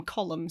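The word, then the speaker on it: Colm: of in aarin and they kept calling him column so I was like oh no yeah I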